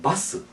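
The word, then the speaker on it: バス: 그런데 이제 버스는 바스.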